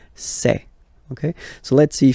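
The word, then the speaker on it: ces: And for the plural, c'est. Really open this c'est, okay?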